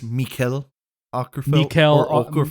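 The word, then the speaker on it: Mikael Åkerfeldt: Um Okerfelt, did I say it right? Did I say it right? Michael Oerfelt. Watch somebody's just somebody's uh It's Mikuel Oerfelt.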